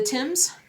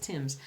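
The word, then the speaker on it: Thames: the the Tims um which the Tims river which is spelled t h m s did I do it right my UK fellow friends my fellow stitchers in the UK I want to say it's Tims not the tames right it's the Tims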